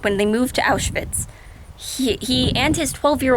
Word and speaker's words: Auschwitz: not be mispronouncing words call it out with out with and it's like no no maybe the word auschwitz for a nine-year-old might be hard to say and he might mispronounce it but he wouldn't mispronounce it as two english words he might say like